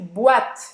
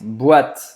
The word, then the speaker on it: boîte: E a gente não vai falar boate, não vai falar boate e não vai falar boate, tá? Então, termina a pronúncia no T e é esse T mesmo, tá?